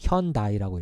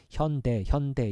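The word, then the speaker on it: Hyundai: 현대가 hyi 이거를 미국 사람들이 어떻게 읽었냐면 현다이라고 읽었어요. 현다이 예다이라고 하는 발음은 죽다라는 발음과 같잖아요.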